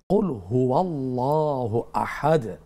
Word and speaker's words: কুলহু আল্লাহু আহাদ: উচ্চারণটা জানতে চেয়েছেন এমনিতো প্রথমে বড় বলতে হবে বল হু আল্লাহ হু আল্লাহ এটা গ্রামারগত বিষয় এমনিতো কুলহু আল্লাহ মিলিয়ে বললে যুক্ত করে বললে তখন কি হবে হুয়ল্লাহ ওর উপরে জবর হবে আকার হবে কুলহু আল্লাহু আহাদ উচ্চারণটা এইভাবে জাযাকাল্লাহ খের বোন একটি নামাজের